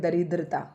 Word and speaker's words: दरिद्रता: बस इसमें रै पे छोटी की मात्रा दरिद्रता, री बहुत जल्दी जो है उच्चारित हो रही है, और दै के नीचे क्या आ जाएगा, रे आ जाएगा।